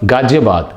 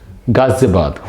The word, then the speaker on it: Ghaziabad: right people say that gaji poor it's not gajapur it's not gajabat it's gazebad ghaziabad all right it's not zul it's not julu